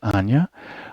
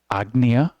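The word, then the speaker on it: Ajna: And it doesn't matter if we say Anya or Agnya, or however your guru taught you how to say it.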